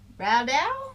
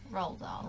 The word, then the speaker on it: Roald Dahl: I'm gonna pronounce this wrong. Raldau? Roald Dahl. Roald. Well, that's how I say it. I just say Raldau. I'm sorry to anyone who knows that we pronounced it wrong.